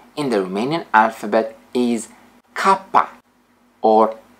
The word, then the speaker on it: K: the Romanian alphabet is Kaa or C the pronunciation is like K in Sky SK Sky now the